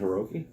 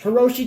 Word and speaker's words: Hiroshi: Is it Hiroki? Yeah, Hiroki Tanahashi. Hiroku. It's either Hiroki. Hiroku Tanahashi. Apologies if we butchered that.